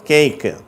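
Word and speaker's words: cake: உதாரணமா ஒரு வார்த்தை கொடுத்திருக்கேன் கேக் அப்படின்னு சொல்லிட்டு நம்ம வந்து தமிழர்கள் அல்லது இந்தியர்கள் அதை எப்படி சொல்றாங்க கேக்குன்றாங்க நம்ம தமிழ் வார்த்தைக்குரிய ஏ என்ற உச்சரிப்பு கொடுக்குறாங்க அந்த ஏன்ற உச்சரிப்பு கிடையாது அதுக்கு எப்படி 8 எட்டாம் நம்பர் நம்ம எய்ட்ன்றோம் அந்த ஐ உச்சரிப்பு தான் அதுக்கு ஓகேவா இந்த ஏ பெறுகிற உச்சரிப்பு ஐ அப்படிங்கறது அதனால அந்த வார்த்தையை எப்படி உச்சரிக்கணும் கேக்கு ஆங்கிலேயர்கள் அப்படித்தான் உச்சரிப்பாங்க அடுத்தது கீழ டேட் நேம்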